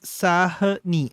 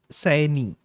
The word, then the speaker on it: Sahni: वो character में hi, Harmeet says my surname is pronounced as Sahni, not Saini.